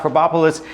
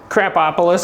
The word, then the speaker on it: Krapopolis: Dan Harmon, and we're going to talk about Krapopolis. Krapopolis? How do you say it? Give me the official. Krapopolis.